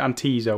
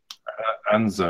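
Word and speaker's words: Anzio: pronounce it is it antio or an something like that anzo I think I don't think you pronounced the I oh anzo an anzo anzo so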